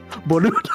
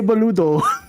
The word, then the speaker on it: boludo: Boludo. That's it. Che boludo. Yeah, and you just say it like the B is like non-existent, but there's like a hint to it.